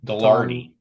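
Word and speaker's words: Gaglardi: Galardi.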